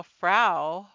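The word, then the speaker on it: frow: it into the sea notice how fra f r o w phonetically sounds just like FR f r Au U which means wife in German when she came home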